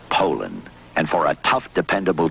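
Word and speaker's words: Poulan: use anything but a pooland Poland Ed Poland and for over 30 years they've been mispronouncing our name po po po po so we'd like to remind you that our name is Poland and for a tough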